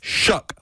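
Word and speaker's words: Shough: or even show yeah the correct pronunciation is shook like Shucks or to shuck corn now why do you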